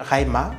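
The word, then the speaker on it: Xaima: découvrir une plateforme web qui s'appelle raima mais on c'est qui s'écrit X a I m a j'ai essayé de prononcer comme ch tidian KH c'est sénégalais qui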